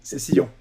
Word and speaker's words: Cécillon: C'est bien comme ça qu'on prononce du coup? Oui. Cécillon. Comme le rugbyman.